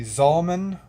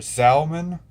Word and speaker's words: Zalman: on here we have the Zalman or Salman depending on how you like to pronounce it this one came with